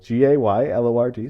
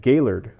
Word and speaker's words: Gaylord: the same way but people with the Michigan Midwest accent called it Gaylord Gaylord like Lord and some somehow the way that they emphasized it rolled off the tongue and I said hey